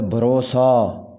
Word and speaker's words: بھروسہ: ہوگا منافقت، منافقت، منافقت۔ بھروسہ، صحیح تلفظ ہے بھروسہ، سین کے بعد الف آئے گا بھروسہ۔ بالمشافہہ، صحیح تلفظ ہے